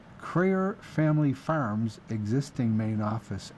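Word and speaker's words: Kreher: Now, I'm spelling Crayer because I'm bet the farm, or them, that I'm saying it correctly, but it's K-R-E-H-E-R. Crayer or Crayer.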